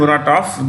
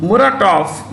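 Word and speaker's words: Muratov: write this dimitri dimitri murataf you have when you pronounce russian names like murata it's written with a v it's pronounced with an f the v becomes an f editor-in-chief editor-in-chief of novaya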